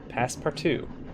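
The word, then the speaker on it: Passepartout: at past part too that's how you say it past part two as a very generous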